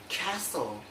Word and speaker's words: castle: The letter T only has one rule, that is not pronounced in the following common English words. For example, apostle, apostle, Bristol, Bristol, Buster, Buster, butcher, butcher, castle, castle, Christmas, Christmas, fasten,